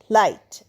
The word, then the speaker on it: light: লাইট। এখানেও দেখো জি এইচ পাশাপাশি আছে। তাই জি এর উচ্চারণ হবে না।